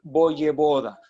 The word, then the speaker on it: Voyevoda: de producción pero si se escribe se pronuncia voyevoda ve corta ve corta y y y esa